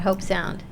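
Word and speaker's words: Hobe Sound: here's the other thing I don't understand about hope sound it's spelled H OBE hell that's home that does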